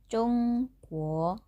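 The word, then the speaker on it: 中国: Pelafalan China dalam bahasa Mandarin itu sendiri yaitu Zhongguo, Zhongguo.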